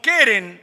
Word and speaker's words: Keren: Es una palabra hebrea É uma palavra hebreia que se escribe KRN que se escreve K-R-N, y la cual se puede interpretar na qual se pode interpretar como Keren como querem o Keren, ou querem, lo cual